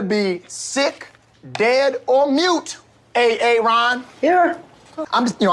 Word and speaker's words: Aaron: it the first time i said a-a-ron because it's pronounced aaron i mean where should i